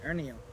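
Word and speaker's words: Hernio: Spanish, It's Spanish. It's Ernio. Ernio. Yeah. Ernio. H is silent.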